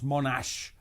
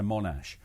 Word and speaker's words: Monash: emigrated to Australia and his name was Monash with with with more with a seeing a more of an emphasis on the second syllable but it was anglicized slightly to Monash they that the family